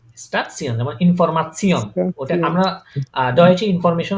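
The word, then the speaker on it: Information: জি স্টাসিয়ন যেমন ইনফরমাশন, ওটা স্টেশন আমরা ডয়েচে ইনফরমেশন আর ইংলিশে ইনফরমেশন দুটোটার বানান সেম, কিন্তু প্রনাউন্সিয়েশন ভিন্ন। আমরা যেটা ডয়েচে আমরা ইংলিশে বলি ইনফরমেশন, ওটাকে ডয়েচে বলে ইনফরমাশন। ঠিক আছে, তাহলে উচ্চারণগুলো আরেকবার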